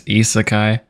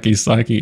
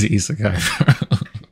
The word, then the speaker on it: Isekai: a dickhead when I say this, but it's Isekai. I don't know what the fuck Isaki is. I don't want to seem like that dickhead ass nigga, but it's Isekai.